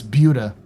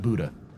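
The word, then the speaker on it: Buda: By the way, that's Buuda, not Buddha.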